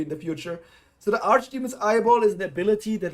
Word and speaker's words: archdemon: It's pronounced Archdemon. I mean, it's Arch or Arc. It can be both, I think.